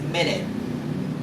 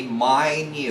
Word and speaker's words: minute: your clock or in your wrist wats it's pronounced as minute we got like 60 minutes in an hour